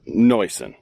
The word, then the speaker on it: Neuson: So, Mary Lynn let me know it's pronounced Noison.